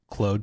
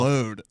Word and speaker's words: Claude: He kept talking about Claude. I keep getting called that. I can't stop myself. Claude? Yeah. So yeah, Claude is Claude to all us non-Canadians. Claude, yes. Claude. It's spelled like a Frenchman, so I say it like a Frenchman.